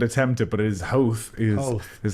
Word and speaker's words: Howth: I think that Howth. Well, that's how most would attempt it, but it is Howth is how the intended pronunciation of that.